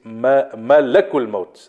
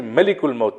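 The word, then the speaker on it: ملك الموت: So Malakul Maut responded, the angel of death, and I explained last week the correct pronunciation is Malakul Maut. Malak means angel. Many people say Malikul Maut. Malik means king.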